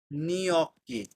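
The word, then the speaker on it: gnocchi: আচ্ছা, একটা খাবার আছে, সেটা হলো নিয়ক্কি।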